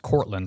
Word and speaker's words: Cortland: where the conversation goes so um and it's pronounced Cortland right yeah I was named after an apple